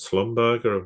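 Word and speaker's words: Schlumberger: be known as slumberger I think people have probably heard of that or quite a lot of people they've Slumber yeah who why I was calling because I find the other pronunciation anyway that's just me I've heard both just just for the people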